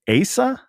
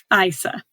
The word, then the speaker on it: Isa: So the book follows, is it Asa? Isa. Isa. Okay.